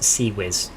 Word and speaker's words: CIWS: Yeah, so it's CIWS is close in weapon systems, CIWS, so it's pronounced CIWS, like Sea Wizard, No. like a sea wizard.